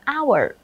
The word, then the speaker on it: hour: Rush Hour Rush Hour từ này các bạn lưu ý đừng phát âm sai nhá Nó là our đ có có nghĩa